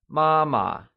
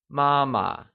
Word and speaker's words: 妈妈: Mother becomes 妈妈, and it is pronounced using the high level tone. Let's hear you say 妈妈.